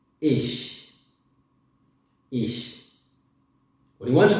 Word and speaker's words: ich: When you want to say I, you say ich. Ich.